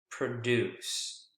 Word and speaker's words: produce: that's a verb and verbs more often than not the second syllable is the strongest here it's produce produce fruits and vegetables